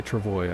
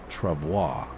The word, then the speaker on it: travois: Whenever I say travois, I get from the French speakers, they say, no, you're saying it wrong. It's travois. But the English pronunciation is actually travois.